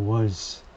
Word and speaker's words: Walz: 발음은 Z가 아니고 S 발음을 하네요. 그래서 월스 이렇게 발음을 하는데 다음 단어가 뭐 붙여 읽게 되면 잘 소리가 자음소리가 돼서 들리지 않죠.